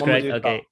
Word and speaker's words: Momodou Taal: We have the one and only Momodou Taal, if that's how you pronounce it. Let me know if I'm wrong. That's correct. That's correct. That's correct. Momodou Taal.